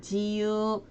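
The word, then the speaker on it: 自由: 일본어 발음은요. 자유는 지유, 자연은 시젠 해서 요건 또 시로 읽어줍니다.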